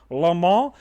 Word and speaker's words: LeMat: Jean Alexander France L because he is French and that is the proper pronunciation Lal but if you're dirty